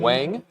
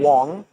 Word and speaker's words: Wang: In third seat, we've got Adam Wang. Adam Wong. It's pronounced Wong, sorry.